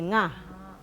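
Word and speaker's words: ང: 요까지는 까카가 쉽게 발음할 수 있는 건데 요 발음이 좀 어려우니까 설명을 잠깐만 해드릴게요. 지금 여기 입 모양을 보시면은 혀 뒷부분이랑 중앙 부분이 닿고 그 다음에 끝부분은 닿지 않고 요 혀를 이렇게 닿았다가 떨어지면서 내는 소리인데 여러분 강아지 발음을 해보시면 강아지 할 때 이 이응이 두 번 겹쳐질 때 나는 소리가 있습니다. 강아지 할 때 nga, 여기 nga 하실 때 보면은 혀가 이쪽에 닿았다가 떨어지면서 nga라는 소리가 납니다.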